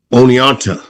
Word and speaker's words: Oneonta: He went to the University of New York of Oneonta.